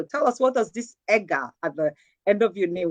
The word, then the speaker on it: EGA: Actually, it's actually pronounced EGA, EGA.